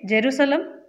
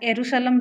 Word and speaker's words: जेरूसलम: बात आ जाती है यहाँ पे इजराइल की, तो इजराइल के बारे में इंपॉर्टेंट फैक्ट, इजराइल की राजधानी है जेरूसलम या एरूशलम भी प्रोनाउंसिएट करते हैं।